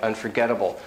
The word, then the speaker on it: unforgettable: example on the sheet like unforgettable the un is very short unforgettable uh the er very short unfor for very short unforgettable the bull is very short unforgettable you hear the stressed syllables unforgettable unforgettable is really one stressed syllable it's really important for